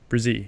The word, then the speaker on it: Bresee: is that that's how you say I already butchered it again Brizzy right yep yeah okay okay Brizzy and